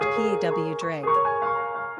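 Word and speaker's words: Pádraig: born", "Patrician" for which the Gaelic version is "Padraig", pronounced P-A-W-Draig.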